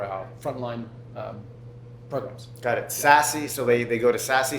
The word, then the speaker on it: Sassy: So Sassy. Tell us about that. All right. So Sassy Sales Management, spelled like SaaS, the software stuff.